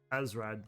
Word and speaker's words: Asrad: Asrad, that's how you pronounce it.